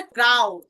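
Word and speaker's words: grau: গ্রেট Germán গ্রেট জার্মান গ্রাওটা লিখে গে উচ্চারণটা ক্রাও ক্রা উচ্চারণটা যদি একটু আপনাদেরকে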